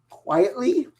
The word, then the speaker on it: Quitely: written by Grant Morrison, drawn by Frank Quietly. Is that how you pronounce it? Yes. At least that's what I've heard.